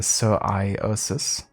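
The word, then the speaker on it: psoriasis: genetic disease or something it's usually pronounced sir iosis sir iosis okay thank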